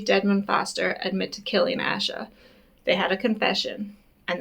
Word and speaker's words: Asha: But Asha Degree was failed by a system that didn't think her life was worth the effort. Her name is actually pronounced Asia.